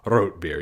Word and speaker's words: Rotbier: no exception and yes that's how it's pronounced root beer even though you might see it spelled r-o-t-r-r-o-t-e sometimes root i